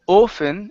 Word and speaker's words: often: word often right here instead of 0 often it's an ah sound okay very often very